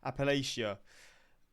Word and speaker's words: Appalachia: from any part of Appalachia I keep saying it wrong Appalachia um the worst parts